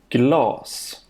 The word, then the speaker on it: glas: For example, this word has a long vowel glass and it means glass.